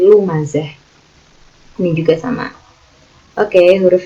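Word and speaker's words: لمزة: Lumazatil lumazah, bukan lumazat tapi lumazah.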